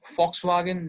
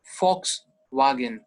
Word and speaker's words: Volkswagen: So इसे हम Volkswagen नहीं पढ़ेंगे. V sound नहीं आएगा. V is V, F sound. Volkswagen, V, Volkswagen.